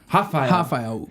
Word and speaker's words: Raphael: Well, Raphael would be the right pronunciation. And that is the Portuguese pronunciation?